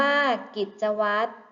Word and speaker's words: กิจวัตร: ท้าย ข้อ ที่ 5 คำ ว่า กิจวัตร พยัญชนะ ตัว ใด ที่ ไม่ ออก เสียง คะ ใช่ แล้ว ค่ะ พยัญชนะ ที่ ไม่ ออก เสียง คือ ร เรือ นั่น เอง ค่ะ และ คำ